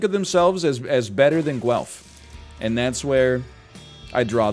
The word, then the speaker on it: Guelph: It's spelled like it's pronounced. G-U-E-L-P-H, Guelph.